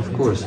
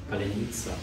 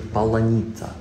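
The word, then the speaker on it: паляниця: Yeah, polyanita. Of course. Without insult. Polyanita. Polyanita. Як лідерська полонені говорили? Паляніця? Ні, вони «л» не можуть казати, вони кажуть «паланіця».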